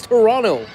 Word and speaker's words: Toronto: Um, but did y'all know that T was silent in Toronto? So, it's Toronto. I had no idea.